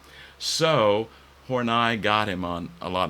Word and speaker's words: Horney: But I do want to focus on Karen Horney. You can pronounce it Horny because it's more fun to do that, I know. But actually, she pronounced her last name, and her family did, as Horney.